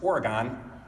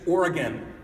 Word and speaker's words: Oregon: Now, I kept talking about it, and I kept Oregon and Oregon. I don't know if you know this, but it's not pronounced Oregon.